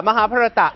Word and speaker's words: Mahabharat: Pooja, Mahabharata. How do you pronounce Mahabharata in India? In India, it's Mahabharat.